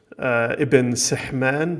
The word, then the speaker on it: Ibn Sihman: Indeed, as Cole points out, scholars like Ibn Sihman, which he says is the correct vocalization based on how his descendants pronounce it, who Cole says in